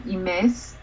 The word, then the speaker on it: imes: So yes, because in imes, which means to smell, and the stress is on the second syllable.